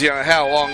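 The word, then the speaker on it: Howlong: He comes from How Long. He's from Albury. Coaches the Lady Bandits down there. How Long? Yeah, it's spelt like that too, Kaz.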